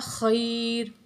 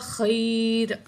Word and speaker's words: خیر: پڑھیں گے۔ بالذی ہوا خیر، خا گلے کے درمیان سے نکالیں گے، خیر، خیر نہیں پڑھیں گے۔ تو اگر خیر آپ